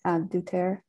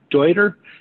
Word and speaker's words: Deuter: Duterte. No problem. You said it incorrectly, but it's Deuter.